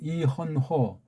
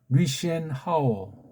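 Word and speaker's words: 李轩豪: 잡은 신진서가 백을 잡은 이헌호 중국발음으로 리시엔 하오 와 둔 바둑을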